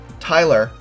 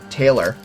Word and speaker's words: Tyler: for these cards and i mispronounced his name or misspoke i called him taylor and believe it or